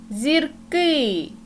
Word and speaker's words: зірки: поглянемо на зразок зірка зірки у слові зірка наголос позначає у нас голосний звук і